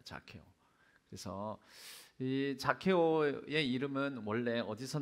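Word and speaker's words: Zacchaeus: 영어로는 뭐라고 발음하는지 아세요? 이 영어 단어이 사케오 이름의 영어 단어가 제로 시작해요. 자케오라고 합니다. 자케오.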